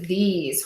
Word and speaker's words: these: These is pronounced with a long E and a Z.